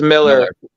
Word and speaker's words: Millar: Is it Millar or is it Miller? It's Miller. Brandon Millar. Yeah, Brandon Powers made it very clear that it's Miller.